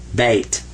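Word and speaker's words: بيت: This says ba, and that means be quiet. Like this silent Y is right here in English, this means be quiet. And this is ta, beta, bait. So that's how you say house in Arabic.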